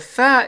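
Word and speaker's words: ف: have the thaa and now the fa is quite simple because it's very similar or almost identical to the f in english as in the word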